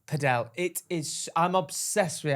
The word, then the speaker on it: padel: Or as my brother thought it was pronounced, Podel. Padell. It is. I'm obsessed with it. Apparently, it is pronounced padel. I'm It's not pronounced pedell. It's paddle.